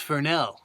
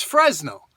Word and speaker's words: Fresnel: about the Fresnel lens, I know people say, "Oh, it's pronounced Fresnel." No, it's not. It's Fresnel. If you don't want the letters in there, if you don't want them pronounced, leave them out.